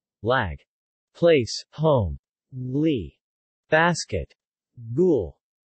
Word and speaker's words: lág: L, L, similar to English. L. In lean, but with the tip of the tongue against the top teeth, never as in English kneel. Lag.